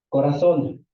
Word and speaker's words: corazón: Corazón. ¿Dónde se acentúa corazón? ¿En cuál? En la última. Corazón. ¿Qué sílaba es? La última.